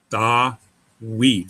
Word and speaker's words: Dawid: Anyway, Dawid is consonant, vowel, consonant, vowel, consonant. Dawid. So the Vav in this case is being used as a consonant, not a vowel.